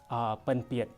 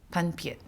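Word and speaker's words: pinpeat: Panpiet. Panpiet? Yes. P-I-N-P-E-A-T. Panpiet.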